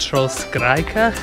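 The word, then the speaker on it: Trollkirka: going up what's called It's pronounced troll skraa which means troll church this is proper scrambling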